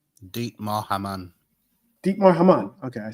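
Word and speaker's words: Dietmar Hamann: Deepmar I think is how I pronounce it. Hopefully JK can help me out with that pronunciation. Deep. Say it again. Deep Maman. Deepar Haman.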